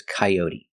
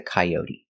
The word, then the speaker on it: coyote: show k o and the t is pronounced with a D sound d d coyote and